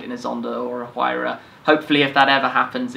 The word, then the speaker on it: Huayra: The new model, the Huayra, a lot of debate, obviously, as to how to pronounce it, but I believe that's how Horacio says it.